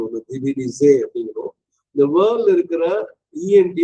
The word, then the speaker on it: divinisé: The divinisé S is between two vowels, அதனால Z sound ஒன்று divinisé அப்படிங்கிறோம்.